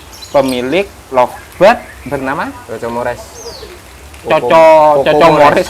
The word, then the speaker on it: Coco Mores: Coco Mores apa Koko Mores? Coco Mores sebenarnya. Tulisannya. Oh, ini bacanya Coco Mores ya. Karena anak saya yang Oh, ngasih nama. Coco ini. Coco bukan Koko.